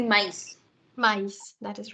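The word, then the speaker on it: maïs: There is a word M-A-I with trema S, so pronunciation will be mice.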